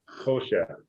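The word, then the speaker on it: חושך: actually as far as I hope I'm not wrong, but my muscle memory is having me put the emphasis on the first syllable, Hoshech.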